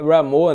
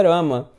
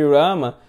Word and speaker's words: Rama: e parece que é Ramo, né, assim, o pessoal usa Ramo. Na verdade, o nome de Krishna é Rama, né, Radharamana. Então, assim, a pronúncia correta é Rama.